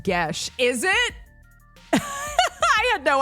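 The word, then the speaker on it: geas: My D&D group had a long talk about that spell, culminating to all of us being mad that it's pronounced Gesh.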